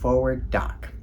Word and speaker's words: FWD:Doc: With this video, I'd like to lift up FWD:Doc [pronounced "Forward Doc"] which is an organization of documentary filmmakers with disabilities.